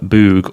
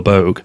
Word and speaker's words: Moog: I made earlier on the Moog all the Bogue depending on how you're pronouncing it today so starting on the